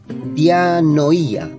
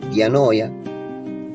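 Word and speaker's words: διάνοια: Mente es dianoía o diano es así se pronuncia del griego, dianoya, eh, que es capacidad de razonar, pensamiento profundo, intención.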